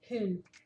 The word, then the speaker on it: hun: Han hun, que significa ele, han, ela, hun. Lembra que o U, o U no norueguês é U, não é u.